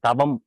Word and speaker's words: தவம்: தவம்னா என்ன அப்படின்னு பார்க்கலாம் அந்த உச்சரிப்பு பார்த்தீங்கன்னா தா அப்படின்னு சொல்றோம் இந்த தா ஜா ஷா இந்த மாதிரி கஷ்டமா உச்சரிக்கிற எழுத்தெல்லாம் தமிழ்ல கிடையாது அதெல்லாம் சமஸ்கிருத எழுத்துக்கள் அதை சொல்லும்போது தவம் தான்னு தான் சொல்லுவோம் தவம் ஆனா நம்ம பழக்கத்துல தவம்னு சொல்றோம் தவறு இல்ல தவம் அப்படிங்கறதுதான் சரியான தமிழ் சொல் இதுக்கு சமஸ்கிருதத்தில் இருக்கிற அந்த